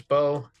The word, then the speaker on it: Bowe: Apparently his name is pronounced Marcus Bowe.